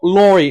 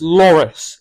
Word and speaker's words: Loris: got his name wrong it's not Lori it's Loris it is what I